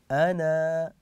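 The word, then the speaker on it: أنا: الرحيم الايات سهله يسيره لاحظوا معي حينما وقفت عند كلمه انا وقفت بالالف ونطقت الالف مثل ها هذه انا لما نقف عليها ناتي بالالف ولما نصلها بما بعدها نحذف الالف وناتي فقط بالنون المفتوحه لماذا لان عليها هذه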